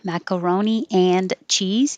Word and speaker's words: macaroni and cheese: And if you put it together with an and, macaroni and cheese, you won't hear the and. It just gets shortened to an n.